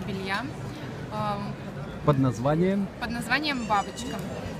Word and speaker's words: Baboshka: А бабочка у нас пишется по-английскими буквами. Чуть ли не бабушка. Ну, все, ну, кстати, бабочка. Мимо читают, ходят, говорят «бабушка».